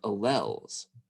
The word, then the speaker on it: allele: is the result of alleles and uh alleles is a the proper term oh i'll let you guys hear the correct pronunciation read aloud alleles allele so allele and we know how